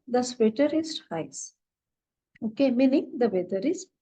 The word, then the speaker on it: heiß: It is called as SZ in German and it is pronounced as double S.